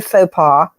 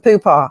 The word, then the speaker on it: faux pas: what are you are you attempting to say faux pas because it sounds like you're saying Pupa yeah uh yeah hopa